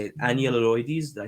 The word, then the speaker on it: Enyalioides: Enyalioides. Did I say it right? yeah, and Enyalioides.